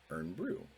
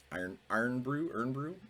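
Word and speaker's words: Irn-Bru: was a 6-pack of Earn Brew. Iron Brew. I always thought it was Earn Brew, but my wife saw it and said, "What's Iron Brew?" And I'm like, "Oh, I think you added extra syllables."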